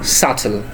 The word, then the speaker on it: subtle: And final one is not subtle, this is subtle.